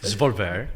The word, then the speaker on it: Svolvær: But there's also the connection with the War Museum here in I'm so bad with pronunciations. What's the name of the city? Svolvær.